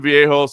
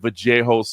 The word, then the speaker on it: Vallejos: I mean, I really do believe this kid, Kevin Vallejos, it's they pronounce it with the Argentinians like Vallejos or whatever. I say Vallejos, but Kevin Vallejos against Danny Silva, phenomenal fight, number one.